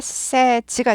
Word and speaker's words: says: 위칭 단수 현재형은를 붙이면 say 아니고 세즈 발음이 바뀌죠 say 이거는 a 발음이었다 이죠 얘는 say 아니고 세 sayes에서 A 발음으로 바뀝니다 a say say 에에로 바뀌어요 세에서 a a 발음으로 할게 세이즈 아니에요 he says Hello to me